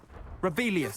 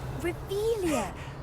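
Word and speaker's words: Revelio: place where are you rebellious saying it wrong oh rebelia much better oh shut up wait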